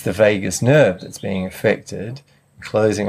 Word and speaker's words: vagus: of the nervous system v-a-g-u-s yeah pronounced vagus nerve okay yeah really interesting